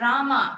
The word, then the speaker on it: Rama: hari krishna krishna and rama rhymes with drama and sanskrit words hare